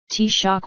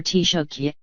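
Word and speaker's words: Taoiseach: Irish Times phrased it daak pronounced t-shock or tiok is the Irish language title of the Prime Minister and as the day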